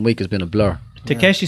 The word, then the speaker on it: Takeshi: I wonder, did he walk into his cell saying, this is Tashiki's castle? Takeshi. Tashiki. And his name is the same as Takeshi, like as Yeah. Takeshi's castle. Or Like, I pronounce it Tashiki.